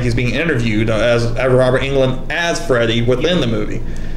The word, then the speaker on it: Englund: On the Final Nightmare, Freddy, I guess, since he's Robert Englund, is that how you say his name, by the way? Is Robert Englund, yeah.